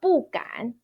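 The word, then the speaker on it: 不敢: But here, 敢 is third tone. So as long as the first, second, third, or neutral tone is right after the 不 character as a fixed phrase, then you need to pronounce your 不 character as a fourth tone 不. So 不敢.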